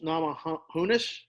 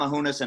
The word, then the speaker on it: Namajunas: say your last name Rose namajunas not Mohonasen entourage who knows it